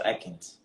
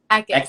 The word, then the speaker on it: Eckis: Eckis or Eckins? Eckis. So it's pronounced like a wet kiss. Like that's like the best way to like think about it. Hey, kiss that's wet, but it's Eckis.